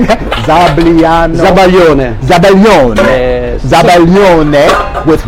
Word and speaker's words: zabaglione: Now, did I pronounce that? How do I say that? Zabaglione.